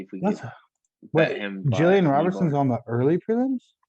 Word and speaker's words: Gillian: Friend of the show, you say her name wrong. Jillian. Jillian. Animal. What? Jillian, That's for what it sure. said. Not Gilligan Island.